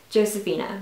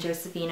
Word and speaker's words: Josefina: i would definitely recommend josefina or josefina however you want to pronounce it i know that some people don't do the j because that's like spanish and josefina but i just call her josephina but yes i would